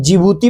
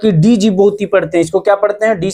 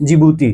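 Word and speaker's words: Djibouti: इसे जिबूती कहा जाता है, डी. जिबूती नहीं. आप इसे किस रूप में पढ़ते हैं ? 'D' अक्षर साइलेंट रहता है। D का क्या अर्थ है ? यह शांत है।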